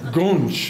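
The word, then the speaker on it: goonch: Gonch is the pronunciation.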